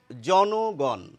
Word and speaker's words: জনগণ: জনগণ। কিন্তু জন যখন বলছেন বা জন যখন বলছেন তখন কিন্তু ন এর সঙ্গে ওকার নেই। কিন্তু জনগণ বললেই একটি ওকার এসে যাচ্ছে।